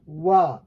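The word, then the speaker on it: は: So here the pronunciation is de wa arimasen, and this is pronounced as wa because it's a particle, and it's up to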